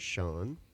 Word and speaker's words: Shawn: about me about you my name is sha and it's spelled s a WN not sea n or s n and I am 31